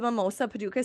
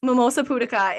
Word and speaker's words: Mimosa pudica: And it's only the seed, the Mimosa Paducah seed. It's so I'm laughing at, I said it wrong in a podcast before. I think I just said it wrong again, and Jenna's probably laughing at me. Mimosa Pudica.